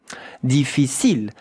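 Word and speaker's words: difficile: And the e at the end. You don't hear it like most of the word. Yeah. You know in French that ends with an e. Deficil. Look at how to pronounce it. Really easy. Three syllables.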